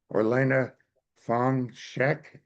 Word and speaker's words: Orlena Fong Shek: Or Elena Fong Sheek, is that correct? I pronounce that's correct.